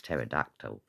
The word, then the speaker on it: pterodactyl: That's a silent P, and then I got it. It's pterodactyl.